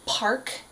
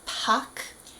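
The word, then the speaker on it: 박: of the fun names it's spelled Park in English so we would say Park K but it's actually Pac Pac Pac y Pac Kong there's a there's no R in there that would be very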